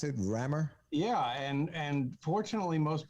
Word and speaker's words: Rammur: the rammer is that is that how we pronounce it rammer yeah and and fortunately most people are getting